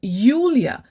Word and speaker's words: Julia: pronounced as yacht so when pronouncing the name julia in german it's pronounced as yulia with a y although it's written with